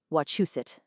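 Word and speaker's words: Wachusett: If you're local, you say wuset. The key here is that chu sound. It's a clear chu.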